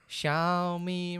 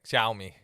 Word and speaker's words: Xiaomi: How do you pronounce this company's name? Xiaomi, right there on my TV. Xiaomi. Xiaomi. I'm Okay. pretty sure it's Xiaomi.